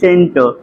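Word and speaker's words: scent: meaning बन रही किसकी एस ई एनटी की सेंट देख रहे हैं य भी सी क्या हमारा साइलेंट है लेकिन अगर यस नहीं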